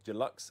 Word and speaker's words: deluxe: pre-order or order the deluxe edition I keep saying duux it's Deluxe I don't know why I can't say it correctly yeah and but you